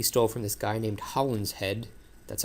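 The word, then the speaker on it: Holinshed: So, the plot from McBth, he stole from this guy named Holland's Head. That's how it's pronounced.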